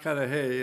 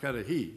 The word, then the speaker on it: Cudahy: It's in Wisconsin, it's pronounced kadi. In Illinois and elsewhere, it's pronounced kadi.